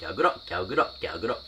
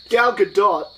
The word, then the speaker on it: Gal Gadot: her saying her own name, confirming how it's pronounced. And it's just like, Gal Gadot. Gal Gadot, she can speak English.